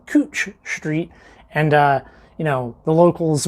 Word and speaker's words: Couch Street: they're like, oh, that's Couch Street. Well, the locals pronounce it Cooch Street, and you know, the locals will be like, oh, where are you at?